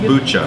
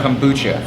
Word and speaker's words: Kombucha: How do you pronounce it? Kombucha. Kombucha.